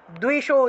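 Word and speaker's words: द्विषो: যশো দেহি দ্বিশো জহি, এই যে দয়ের নিচে বফলা, দয়ের নিচে বফলা থাকায় দুও উচ্চারণ, আর রস্যইকার আছে, এই যে এই যে এই যে এখানে রস্যইকার আছে দয়ের সামনে, এই রস্যইকারটা অন্তস্থয়ের সামনে এসে উচ্চারিত হবে, তাহলে দ্বিশো জহি, দ্বিশো জহি।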